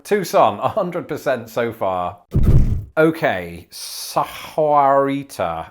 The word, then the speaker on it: Tucson: so we're going to just confirm that that is indeed how it is said tucson tucson 100 so far okay